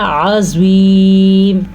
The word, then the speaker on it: عظیم: اب آپ نے دیکھا یہاں پہ بھی ذال ہے اور یہاں پہ زوا ہے، لیکن ان دونوں کا ساؤنڈ جو ہے ایک دوسرے سے مختلف ہے. اسے ہم نے پڑھنا ہے عذاب، جبکہ اس کو پڑھنا ہے عظیم. عظیم، زوا بھی ہمیشہ پر یعنی کہ موٹا پڑھا جاتا ہے.